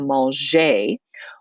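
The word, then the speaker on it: manger: verb like maljee okay the g remember in french is pronounced j okay so mol jay when we're saying all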